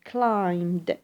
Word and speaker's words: climbed: notice the pronunciation is climbed we do not pronounce the b since B sound here is silent so has climbed to 3% why have